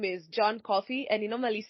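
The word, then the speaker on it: Coffey: whose name is John coffee and he normally says that my name is John coffee he coffee like the drink but spelled different very nice show by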